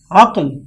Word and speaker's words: عقل: درست جواب ہے عقل۔ عقل لفظ نہیں ہے بلکہ درست تلفظ ہے عقل، یعنی عین پر زبر اور قاف پر جزم۔ سوال نمبر 4 ہے